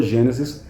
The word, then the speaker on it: Gênesis: É mais bonito a pronúncia assim, é o correto, aliás. Livro do Gênesis, livro do Êxodo, é assim que você pronuncia.